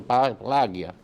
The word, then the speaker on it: Paglia: ¿Cómo se pronuncia eso, Germán? Vincenzo Plagia.